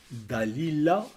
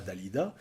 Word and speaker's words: Dalila: par une certaine alien prononcer le nom, Dalila et non pas Dalida.